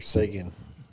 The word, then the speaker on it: Seguin: But Charles is say it like the hockey player, Sagan.